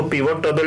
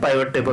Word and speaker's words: pivot: में पाइवट टेबल को, इसको पिवट टेबल भी बोलते हैं, पाइवट टेबल भी बोलते हैं, सबका अपना एक प्रोनाउंसिएशन है।